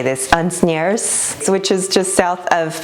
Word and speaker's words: Asnières: It is in, how do you say this, Asnières, which is just south of Paris.